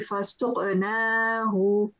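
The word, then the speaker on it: فَسُقْنَاهُ: So it will be fasuqnahu.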